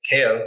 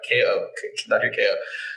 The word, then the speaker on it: Kao: Kao it's Kay-Oh, k-a-o everybody says how do you say his name cow? Okay i'm like it's not that hard K.O so Dr.